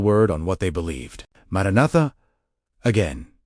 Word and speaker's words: Maranatha: The believers who first cried out Maranatha were not immune to that same discouragement. They simply refused to let the silence of unanswered time become the final word on what they believed. Maranatha, again, pronounced maran at, meaning come, Lord was